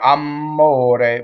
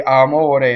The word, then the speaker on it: amore: um I'm all day often I hear I'm mode with two M's or even worse I'm motor today right unless you're from Naples the way you say are more day is one m and a flipped are a closed o in the middle okay so now let's